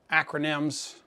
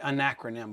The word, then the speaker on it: acronym: one of my favorite acronyms I always want to say anacronym but it's acronym I don't know why my tongue always wants to add another syllable in there but my favorite acronym